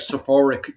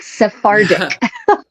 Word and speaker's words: Sephardic: Every time I say it, it's like Sephoric Jews. I always butcher the pronunciation. It is. It is not It is not a skin care shop. Sephardic.